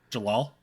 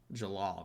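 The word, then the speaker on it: Jellal: a pretty ba but he's uh i got jaleel or joel or is it yeah i i want to say that's how you say it from fairy tale jalal jalal there you go yeah okay it's been a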